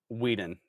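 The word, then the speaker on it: Whedon: Josh Sweden was the creator. Sweden. Weeden. W E D O N.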